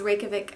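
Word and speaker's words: Reykjavík: nail and the next one we have is rikic has all the hot spots and thank you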